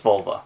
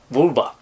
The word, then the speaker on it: vulva: The Spanish word for vulva is vulva, but it's not pronounced vulva because it's Spanish. It's pronounced vulva. Okay. Which sounds like Bulma.